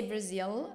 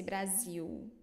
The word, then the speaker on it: Brasil: The final L pronunciation is the same as Brasil. Yes, always io. You don't say Brazil in Portuguese, say Brasil.